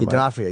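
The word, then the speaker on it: Vincent D'Onofrio: Dafia.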